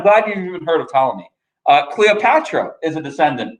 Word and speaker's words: Ptolemy: former persian empire and ptolemy yes that is a silent p like pterodactyl who is going to